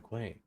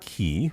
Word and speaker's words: quay: No, but the pier has to be coming off the quay.